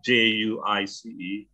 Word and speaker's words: juice: Jadi kalau spellingnya J-U-I-C-E, itu memang ada kata ice di situ. Tapi karena U sama I ketemu, itu bacanya U saja, I nggak perlu dibaca. Jadi ju, C-nya bunyi S kan juice.